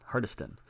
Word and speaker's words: Hardyston: to hardiston Hardy's hardyston hardiston I believe that's how you pronounce it he went to their